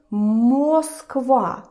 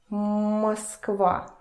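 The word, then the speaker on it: Москва: reduction in Russian and the first rule is that o Russian Or when it is unstressed, where there is no stress and no accent going on it, it turns to the sound e.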